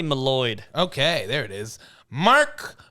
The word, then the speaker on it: Mylod: Yeah, I'm going to say Malloyd.